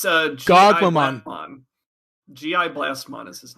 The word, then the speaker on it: Gogmamon: there, and then like Gogmon, they didn't. I never say his name right. It's Gogmamon.